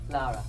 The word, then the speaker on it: Lara: Lara. Okay, fine. How do you say it, Claudia? Lara. See, she says it way better than me.